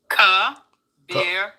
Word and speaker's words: Kabira: Kabira. Okay, Kabira. a soft eye. Okay, Kabira, soft eye.